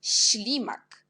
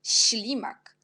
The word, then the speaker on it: ślimak: Puis, on a encore une consonne avec l'accent, on prononce, c'est une lettre chi, esh, mais on prononce chi. C'est aussi serré, chi, jak ślimak, ślimak.